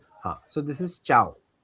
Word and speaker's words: ciao: So this is ciao.